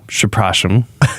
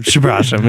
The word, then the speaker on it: przepraszam: things like, excuse me, which is very easy to pronounce in Polish. It's przepraszam. Okay. Przepraszam, excuse me.